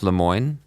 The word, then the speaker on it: Lemoine: I'm delighted to have with me today Lemoine that's correct that's me good perfect pronunciation perfect that's good and he's the deputy